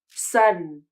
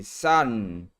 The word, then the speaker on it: sudden: I'm going to pronounce this word using nasal closion. Sudden. I'll say it again and listen to how I pronounce the last syllable.